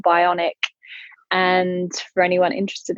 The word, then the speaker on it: BIONIQ: were just launching here in the UK called Bionic. And for anyone interested, it's spelled BIONIQ.